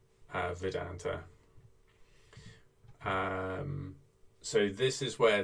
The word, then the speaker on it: Vedanta: and vita i think the v is pronounced like a w actually vedanta um so this is